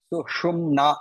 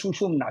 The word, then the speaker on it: sushumna: The first word, sushumna, you have to be careful of the pronunciation. The sha has to be clearly pronounced. Otherwise, it becomes shushumna. Shushumna is not the right pronunciation.